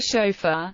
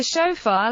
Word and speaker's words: shofar: a chauffeur pronounced OA is a musical instrument of ancient origin made of a horn traditionally that of a ram used for Jewish religious purposes like the modern bugle the chaffeur lacks pitch altering devices all pitch control is